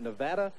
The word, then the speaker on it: Nevada: Georgia Southern College, that the folks out here pronounce it Nevada, and this is the University of Nevada, Bucky.